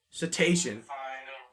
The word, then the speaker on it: cetacean: here we go I can't even understand house cetacean cetacean no that's that makes terminals let me move the string cetacean stranding it's an illness bee tree huh let me this is our house cetacean I wouldn't pronounce it like that cuz like